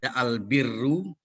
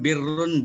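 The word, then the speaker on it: البِرّ: Ada yang bacanya Al-Barru, ada Al-Birru, ada Al-Burru. Barrun, birrun, burrun. Itu beda-beda maknanya tuh. Tulisannya sama, beda harkat doang.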